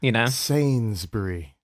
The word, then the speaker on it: Sainsbury: Sainsbury.